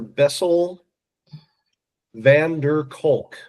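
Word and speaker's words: Bessel van der Kolk: Bessel Vander Kulk. Can you spell that?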